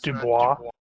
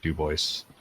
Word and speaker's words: Dubois: It's not Dubois. Yeah, I looked it up. They pronounce it Dubois.